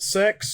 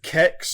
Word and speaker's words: CeX: Yeah, but like some people pronounce it sex, some people pronounce it kex.